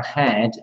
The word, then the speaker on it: had: terms of pronunciation for had, H-A-D, there is a difference between a head and had. And it's very slight, so it's you get away with pronouncing it like the head, but it's different.